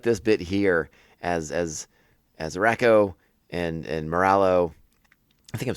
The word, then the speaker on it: Rako: But I like this bit here as Rako and Moralo.